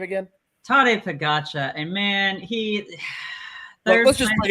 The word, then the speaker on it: Tadej Pogačar: How do you pronounce his name again? Tadej Pogačar.